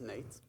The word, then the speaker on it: Nejc: is Nate my name is pronounced Nate Nate I see some of you